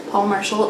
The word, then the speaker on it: Paule Marshall: praise song for the widow by paul marshall paul marshall is a woman but i looked it up